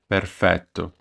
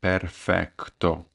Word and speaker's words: perfetto: we're going to learn is perfeto the common mistake the foreigners make is they say perfectto Perfecto which is wrong